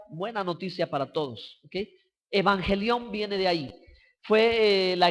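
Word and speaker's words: εὐαγγέλιον: Evangelio, hermanos, es una palabra empleada en el idioma griego y es pronunciado como evangelión.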